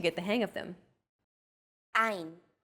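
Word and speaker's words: עין: 3 of these letters are pronounced deep in the throat. These may feel unusual at first, but are fun to say once you get the hang of them. Ein, chet, resh.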